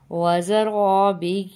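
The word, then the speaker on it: زرابي: واکواب موضوعہ، ونمارق مصفوفہ، وزرابی مبثوثہ۔ یہ جو لفظ ہے تھوڑا سا مشکل ہے، اس کے ہم ہجے کر لیتے ہیں، واو زبر وا، زا زبر زا، افلا ينظرون إلى الإبل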